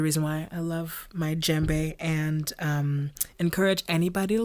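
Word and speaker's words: djembe: more with the yeah the d is silent for sure and then you hear more like that j that just sound so the j comes together as embe but you'll find that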